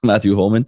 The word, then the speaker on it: Matthew Holman: pronouncing everything okay there's nothing uh funny about the way you pronounce your name it's just matthew holman and is it fair